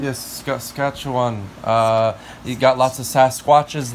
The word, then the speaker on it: Saskatchewan: I don't know how to pronounce that. Saskatchewan. Yes, Saskatchewan.